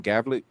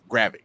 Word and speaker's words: Gravik: Gravik. Gravik.